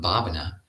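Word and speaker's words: bhāvanā: become um but this this term babana has a long a the first a and it's from the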